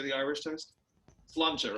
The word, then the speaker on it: Sláinte: Sláinte, right? Sláinte.